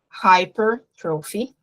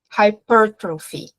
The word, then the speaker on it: hypertrophy: A palavra hipertrofia, ela pode sair assim, hypertrophy, ou também hypertrophy. Então, esse estresse, dependendo do local nos Estados Unidos que vocês ouvirem, vocês também vão ter essa diferença de pronúncia, ok?